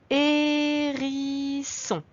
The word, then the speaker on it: hérisson: Le deuxième mot, hérisson. On remarque au début qu'il y a une lettre muette, le H.